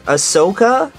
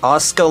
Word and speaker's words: Asuka: Ahsoka? That is not how you say her name. Miss Asuka Langley Soryu?